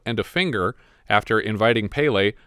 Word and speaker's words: Pelé: footballers, including the world-famous Pelé, or Pelé, as he seems to be pronounced overseas. I've always heard it Pelé. I always thought it was Pelé.